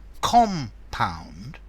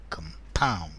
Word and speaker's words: compound: to compound a verb notice compound the noun stress on the first syllable but as a verb to compound compound okay let's see a